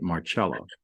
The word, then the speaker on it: Marcella: And for those of you that are looking up Marcella, when you look at it, it looks like Marcella, Marccella, but she pronounces it Marcella.